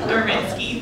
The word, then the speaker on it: Górecki: Górecki, thank you.